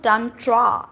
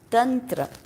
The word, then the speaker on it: Tantra: now become Tantra whereas it's not done draw it's Tantra Tantra but even I have to say Tantra because if I say Tantra No One's Gonna understand